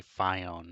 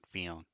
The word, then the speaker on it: Fionn: He was mocked as a kid a lot, so you gotta make sure you say Fionn, not Fionn.